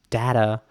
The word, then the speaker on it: data: I mentioned this is there are certain words that I pronounce in a very British way for example the word data Americans might pronounce this word differently they might say data for example um but that's obviously the British English way okay next up is the